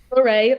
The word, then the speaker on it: Lorraine: Lorraine, like hooray. Oh, Lorraine.